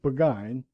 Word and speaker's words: Burgoyne: Nutting had a famous foxhound named Burgoyne. He pronounced it Buggine, which my informant used to borrow.